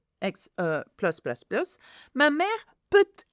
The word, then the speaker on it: plus: So if it's more, you have to pronounce the S of plus. So en plus, plus, plus, plus, ma mère peut être, again, maybe, assez sévère.